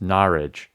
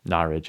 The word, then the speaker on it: Norwich: And this is Mike from Norwich, but he wrote in and said that's pronounced Norwich. So Norwich it is.